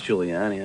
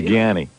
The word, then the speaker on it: Giuliani: No, I just I mispronounced it. What? Giani? I know it's Giuliani.